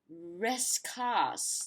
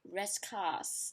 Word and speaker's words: Rascasse: And then the next one is, yeah, this is the one that bugs me most, because like it's supposed to be Rescars, like Rescars, if I'm not mistaken, Rescars.